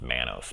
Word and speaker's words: Manus: faith in all right head out her name's pronounced Manos but regardless that's what it sounded like so